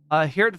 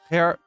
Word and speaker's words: Geert: Pronouncing the J in Dutch is like gurgling your throat while sounding out the G. Geert. Am I doing it? Don't cap if I got it. Geert. It's like Geert.